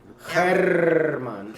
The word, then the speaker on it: Armand: We are here with, it's Armand, but I tend to always say his name wrong, don't I? You got to roll more R's with my name. Herman.